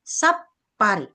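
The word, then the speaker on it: さっぱり: se kecil pa ri maka pengucapannya mengikuti huruf di depannya di depan huruf sekecil kecil ini ada bunyi pa maka menjadi sap pari.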